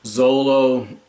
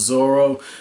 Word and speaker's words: Zoro: kids pronunciations or what, kind of like how it was Zolo and the Viz manga had Zolo, but it turned out it was Zoro.